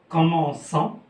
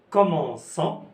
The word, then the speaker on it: commençons: bien elle commence, nous commençons. أنا كنزيدو la cédille لأن C devant O se prononce co. C'est pour cela qu'on a ajouté la cédille pour prononcer sans.